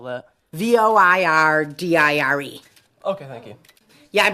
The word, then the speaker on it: voir dire: I do, because I knew this was called voir dire, or to speak the I have a truth as question. it translates. How do you spell that? VOIRDIRE.